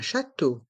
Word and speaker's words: château: dans le mot château les trois voyelles e a u font le son o comme la lettre E un château un musée un château un musée un château